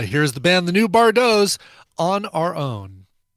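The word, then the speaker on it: Bardots: band called the new bardos b-a-r-d-o-t-s that t is silent but they're not fortunately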